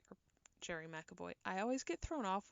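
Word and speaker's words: Gerry McAvoy: by Rory's brother Donald and his bass player Gary McAvoy, or Jerry McAvoy. I always get thrown off when I see Jerry spelt with a G instead of a J, and I want to say it's Gary.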